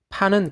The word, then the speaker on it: pan: 판은 그리스어로 모든 것을 아우르는 이라는 뜻이다. 영어로도 PAN, 즉 판 또는 펜으로 발음되는데 이것이 들어간 대표적 단어들은